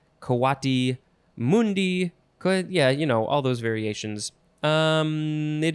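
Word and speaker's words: coatimundi: Let's see, so you could say Kwati Mundi, Kwati Mundi, yeah, all those variations.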